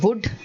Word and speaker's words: would: of the word okay then you have the silent l see this is a mistake which all of us make many of us make not all we say would we say shuld but it is wood it is should kaff